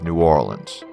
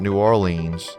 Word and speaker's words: New Orleans: when saying the name of the city it's New Orleans not New Orleans not N'awlins and locals typically don't use NOLA unless it's